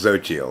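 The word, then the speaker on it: Xochitl: ever encountered that name which is actually pronounced social okay but i never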